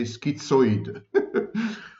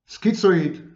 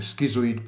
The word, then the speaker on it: schizoid: I know I know Americans should say skito but of course it's a wrong pronunciation of the word never mind schizoid schizoid loners people who